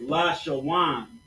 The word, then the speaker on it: Lashawan: So it's Lashawan. You see that? La, sha, wa, and na, but it's Lashawan.